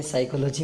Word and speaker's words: psychology: एक तो ये इंग्लिश का ये है कि इसमें साइकोलॉजी में पी साइलेंट रहता है, ठीक है।